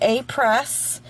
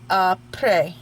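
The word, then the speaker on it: Après: It is not Apres, it is not Apres, it is Apres, okay? Apres. So, simple, it's French. So, if I said that wrong, Chris, sorry. Anyway, this is the Apres Gel X Full Cover Soft Gel Extension.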